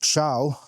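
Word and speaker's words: Thiaw: the minute is Malik Chow. Like, there's a lot of players with weirdly pronounced names this season. Chow. How do you spell Chow? T-H-I.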